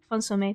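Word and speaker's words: consommé: I don't know how to pronounce it. Something that just takes... Consomme, thank you.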